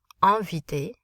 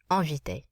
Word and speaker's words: inviter: Inviter. Notice the N does not become pronounced. There's no E following it. We nasalize the vowel in front of the N. Inviter.